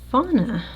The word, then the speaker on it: Fauna: And according to the box, this is Fauna, I believe is how you would pronounce it.